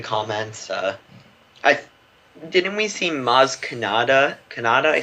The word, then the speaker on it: Maz Kanata: thing love the comments I didn't we seem Maz Kanata kannada i said it right right yeah that's